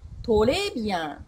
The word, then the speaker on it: très bien: レ、このレの音、トレビアン、レ、レというふ